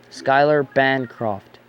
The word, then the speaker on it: Schuyler Bancroft: ba n CR oft I just I feel the need to spell stuff because people they find weird ways to spell things and pronounce them Schuyler Bancroft that's how it is he's on YouTube his